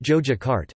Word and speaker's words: Yogyakarta: In Javanese it is pronounced Jojakarta, and named after the city of Ayodhya in Javanese Hindu mythology.